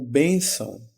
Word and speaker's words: bênção: acento circunflexo e tio, sendo que a sílaba tônica é onde está o acento gráfico circunflexo, no caso o B.